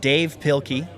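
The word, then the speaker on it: Dav Pilkey: And uh it's pronounced Dave Pilky, but it doesn't have the E in the end for Dave. It's just it's printed Dave Pilky.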